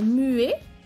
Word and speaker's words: muet: Muet, muette. Aquí es diferente. No suena la T, masculino, suena la T, femenino.